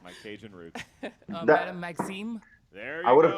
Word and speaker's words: Maxime: pronouncing that well. It's my Cajun roots. Madame Maxime.